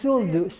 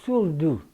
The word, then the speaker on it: Surdu: Parentele Surdu. Of course I know. Oh, all right. Well, Surdu, Surdu.